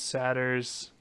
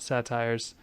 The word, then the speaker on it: satyr: There's fawns, satyrs, not satires. I thought that was And, pronounced satyr. Satyr, Yeah. satyr meal. Uh, That's when they eat. Not satyr. That's when they eat. Satyr. Satyr. Satire.